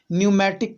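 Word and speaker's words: pneumatic: पी से लिखा हुआ है लेकिन पी यहाँ पे क्या होता है, साइलेंट होता है, सो इसको हम लोग न्यूमैटिक कहते हैं।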